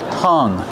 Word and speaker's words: hung: There's no G sound.